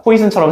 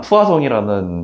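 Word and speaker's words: Poisson: 포이슨처럼 생기긴 했지만 푸아송이라는 약간 프랑스식 발음을 쓰고요.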